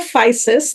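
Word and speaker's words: Physis: uh it's it's called fisis that's how you pronounce it it's a Greek word which basically means uh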